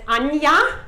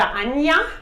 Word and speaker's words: Anja: know and it's pronounced Anja if they don't German so it's already a lesson yeah remember it's done yeah that's how it's pronounced in German with a J yeah okay so I